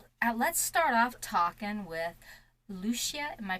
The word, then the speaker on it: Luscia: yeah awesome so let's start off talking with Lucia am I pronouncing that right yep Luccia awesome I don't normally get them all right